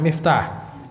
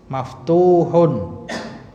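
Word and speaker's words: مفتوح: Bukan miftah. Itu ada wawunya, maka bacanya maaf. Ada wawu. Maftuhun.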